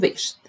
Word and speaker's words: wäschst: and third person singular we have this A with two dots, A with two dots, and we pronounce it as E. Ich wasche, du wäschst.